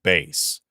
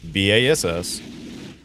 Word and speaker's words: Bass: Well, it's spelled B-A-S-S, and the old voice actress, because it was a girl, for Mega Man, pronounced it as Bass. So we called him Bass for years.